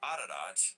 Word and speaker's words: Ararat: Where let's look up this word Ararat, right? Ararat. You gotta roll your R's, baby.